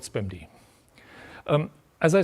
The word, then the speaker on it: SPMD: Well people usually say spamd I don't know if that's the right way to do that but let's call it spamd.